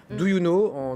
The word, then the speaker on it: Doyouno: Do You Know, donc, non pas en 3 lettres, mais voilà, 3 syllabes, Do You Know et No, N-O.